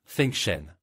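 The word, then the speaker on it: 风神: En Mandarin, le nom se prononce Fengen.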